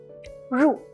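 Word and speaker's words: 入: I can say okay the one on the right with the longer right curve is pronounced as Rue it means to enter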